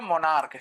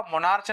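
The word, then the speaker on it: monarch: जैसे ये हो गया मोनार्क, क्या हो गया आपका, मोनार्च नहीं मोनार्क होता है ये।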